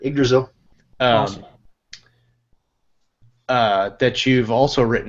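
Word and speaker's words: Yggdrasil: written this uh the I'm gonna mispronounce it igdrasil is that right yeah that's it igdrasil uh that you've also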